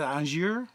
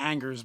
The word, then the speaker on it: Angers: It's like 40 minutes out of Angers. It's not Angers, but if you say Angers, no one will know where you're talking about.